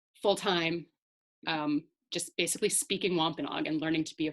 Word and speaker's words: Wôpanâak: language reclamation project um although that spelling right there of of wampanoag is actually wampanoag so that's the the wampanoag pronunciation wampanoag is more like the anglicized pronunciation um so wlrp serves